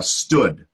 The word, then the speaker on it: stood: becoming accustomed to it it's not the same as booth it's more like foot so booth ooh foot